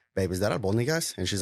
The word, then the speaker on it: albóndigas: And I open the pot and I open it and I'm like, babe, is that albóndigas?